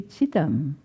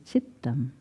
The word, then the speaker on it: chittam: us when there's a double t you hold it longer it puts an accent on the first syllable if there was a single t it would be chitam and this is chittam from the root every